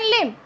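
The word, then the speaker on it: limb: Then लिम्ब, इट्स नॉट लिम्ब.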